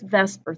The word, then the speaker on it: VSEPR: So, we call this Vesper theory, and I know it's spelled VSEPR, but we call this Vesper theory.